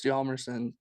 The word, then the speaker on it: Hjalmarsson: It's like Nicholas Hjalmarsson. It's an H and a J.